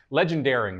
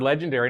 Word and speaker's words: Legendeering: and she said, yeah, his book is called Legendary. That she said it right. I heard legendary and I'm like, so it is legendary or it's called legendary, but it's legendeering.